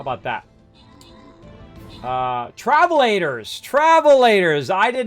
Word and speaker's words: travelator: Travelator. Travelator. All right, we haven't even pronounced it right.